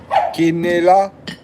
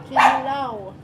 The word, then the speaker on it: kinilaw: Quinela? Kinilaw.